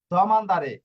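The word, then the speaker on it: domandare: জানে তারপর তারা বলে দুমানদারে হ্যাঁ দুমান্দা দুমানদা না আসলে হবে দমান্দা দারপর দেখুন কে জিজ্ঞেস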